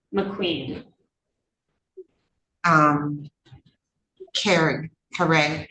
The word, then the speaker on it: Caree: And Caree, C A R E E, McQueen. Um Caree. Caree. It's pronounced Caree, like C A R E E.